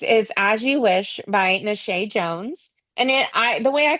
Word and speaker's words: Nashae: How to pronounce Nashae. You're right. Nashae. Nashae.